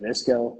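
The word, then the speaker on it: VSCO: I think it's like I think you pronounce it Visco.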